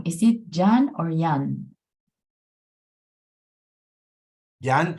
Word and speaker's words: Jan: Jan, how do you pronounce your name?